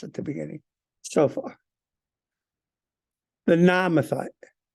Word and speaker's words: Naamathite: The Namathite. Naamathite. Just when you see two A's, two syllables.